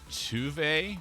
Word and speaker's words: Tove: Funny thing about this character, her name is Tuve, but her name is spelled Tove. Like Tove. It's like, that's Tove, not Tuve.